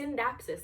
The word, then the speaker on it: Scindapsus: Scindapsus, but it's a Scindapsus. The C is silent. It's a C like science.